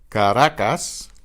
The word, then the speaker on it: Caracas: The next group, the single R between vowels particularly, is pronounced almost like the R, almost like the D in English.